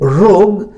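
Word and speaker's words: rogue: रोग, ऐसे स्पेलिंग के लिए आप इसको रोग्यू पढ़ सकते हैं याद रखने के लिए, लेकिन प्रोनाउंसिएशन इज रोग, रोग, रोग, गा पर जोर पड़ा, रोग, GUE, this is the correct spelling.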